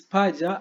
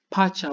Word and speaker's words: paja: So if you have pronunciation problem, you may pronounce this paja as pacha, which the meaning for this pacha is a twins, twins.